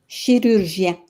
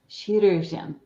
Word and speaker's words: chirurgien: Chirurgien. Chirurgien.